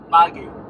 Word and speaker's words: Make: And then, elderly women, we refer to as Make, spelled as make, m-a-k-e.